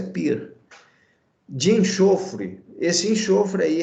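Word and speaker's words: πῦρ: Escreve-se pur, mas a pronúncia é pir.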